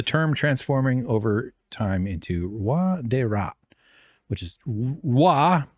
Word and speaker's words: roi: With the term transforming over time into roi de rat, which is roi, R-O-I, is king. Because formerly French oi was pronounced oui or similar. Nowadays it is pronounced wa.